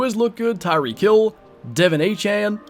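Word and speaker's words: De'Von Achane: look good Tyree kill Devon a Chan I believe that's how he wants his name to be pronounced now Raheem moster I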